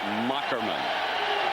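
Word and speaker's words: Moherman: he explained to us that's old German where the H is a k six three 215 pounds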